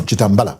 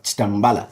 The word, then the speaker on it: Chitambala: Should it be pronounced Chitambala? No, Chitambala. Chitambala. Yes.